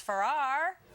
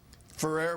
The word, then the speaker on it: Ferrer: Let's ask TV judge Alex Farrar. Did I say it right, Alex? Ferrer, but that's close enough.